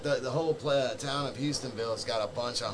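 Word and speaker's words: Hustonville: for you guys dude it's called the Hudsonville haunted saying it wrong the houstonville haunted house I say it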